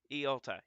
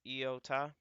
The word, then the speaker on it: Iota: down how you pronounce it uh so it's pronounced eota yeah it's eota that's how you pronounce it so I know